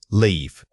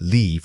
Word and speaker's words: leave: Vowel length is the main difference in this comparison. Notice that leave requires a sustained vowel sound. It must be held out slightly longer than the quick clipped vowel of live.